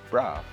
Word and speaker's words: broth: Well, generally in Guyana, colloquially, people say Braff, Right. because that's the way we speak. But the correct way to pronounce Braff is broth.